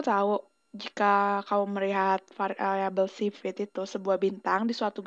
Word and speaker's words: Cepheid: Cepheid itu bacanya Cepheid.